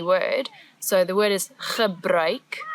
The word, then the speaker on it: gebruik: So the word is gebruik, the ch sound as before, and now we've added a new sound, ui.